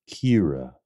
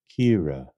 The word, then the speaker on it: Ciara: you say this name it's pronounced Kira Kira Kira Kira Kira thanks